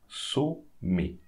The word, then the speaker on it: sommet: So here we have ET at the end. So we should pronounce it A. Sommet. Sommet. A like English alphabet letter A.